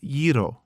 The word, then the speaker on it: gyro: wrapped up oh a gyro bronson asked my mom made those one time it pronounced yiro you see gy is ye not ja hiro that's what you say